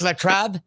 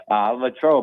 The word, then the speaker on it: Latrobe: He's from, I think it's pronounced Latrobe, Pittsburgh, or Latrobe, Pennsylvania. Latrobe.